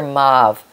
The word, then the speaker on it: mauve: purple move mob move how do you say it move or mauve I grew up with move in Canada but when I came down to America I heard mauve so anyway I'm talking